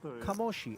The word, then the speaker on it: Kamoshi: de Maro who says it is indeed pronounced Kamoshi. And with that YouTube handle, that account name, yeah, I'm inclined to believe him.